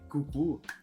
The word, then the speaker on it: coucou: Essa palavra que eles ensinam, esse C-O-U, que no caso é cucu, eu juro pra vocês,